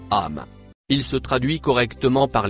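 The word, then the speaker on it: أم: Le mot en couleur verte se prononce âme.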